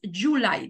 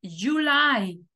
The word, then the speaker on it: July: la vocal igual june Julio tiene dos sílabas en inglés July y la que va acentuada es la segunda no decimos July decimos July y agosto también va